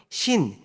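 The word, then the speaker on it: שׂ: 그 다음에 신, 이거는 신 또는 신 이렇게 발음하시면 됩니다.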